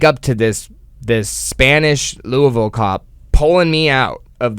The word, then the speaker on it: Louisville: stopped by cops in Louisville um which I was also taught how to say it's not Louisville the guy said uh give up saying it halfway through it's Louisville and you Le something new